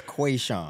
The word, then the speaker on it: Que'Shawn: Kushan. How you doing, bro? How did I do your name? You did okay. It's Quayshawn.